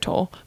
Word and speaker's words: Tolle: you say his name we've been saying totally for years but it's yeah Eckhart Tolle obviously totally totally yeah totally